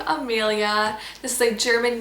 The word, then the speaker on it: Amelia: Mexico named Amelia but her name is pronounced Amalia with the same spelling this is definitely strongly